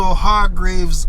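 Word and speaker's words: Hargreaves: the Parish Library also hard Graves Avenue everybody supposed to know about the the Private Hospital and call it hard Graves yeah man hard G so in case you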